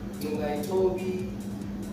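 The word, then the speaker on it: Ngcukaithobi: Nungaitobi. Come again. Nungaitobi. Okay. Spell it.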